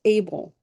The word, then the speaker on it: Abel: We don't pronounce the H in English, so we make it Abel, but it's supposed to be what?